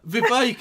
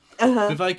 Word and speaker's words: Vivek: So, Vivek, it rhymes with cake, right? You can tell I'm taking this very seriously. Vivek, it rhymes with cake,